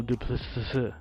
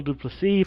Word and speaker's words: Duplessis: I used to say Neil Duplessis. Okay, so it's Neil Duplessis from South Africa.